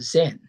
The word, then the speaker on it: Zen: Well, by def definition in Japanese pronunciation, chan is called zen.